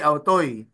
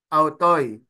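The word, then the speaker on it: αὐτοῖς: So like the example here, asin, autoy, asin. The purpose of adding the nu was to avoid pronouncing two successive vowels. So you do not read it as AC autoy. Rather, it becomes asin autoy.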